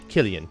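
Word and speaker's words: Kilian: I am Killian.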